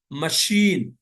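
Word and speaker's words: machine: کہیں کہیں سی کے بعد ایچ آنے سے اس کا تلفظ شا ہوتا ہے، سی کے بعد ایچ آنے سے، جیسے مشین، مشین، ٹھیک ہے، مستیش، مستیش، مستیش،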